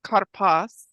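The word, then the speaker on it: כרפס: Pronounced karpas refers to a leafy green vegetable, a cognate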